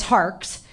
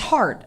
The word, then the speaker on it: Harkes: name right and um it's hars and some people think that it's heart and I'm like you know it's a common mistake like I wish my